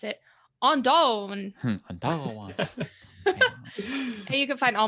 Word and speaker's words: Aundayn: So you can find me anywhere under Ondayn, AUNDAYN, or as Nolan likes to pronounce it, Ondayn.